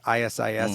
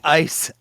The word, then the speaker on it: ICE: I'm not asking you about ISIS tactics, like ISIS. It's ICE, I-C-E, apostrophe S tactics.